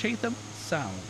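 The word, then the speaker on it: Chatham Sound: I almost called it Chatham Straight, but no, it's Chaam Sound.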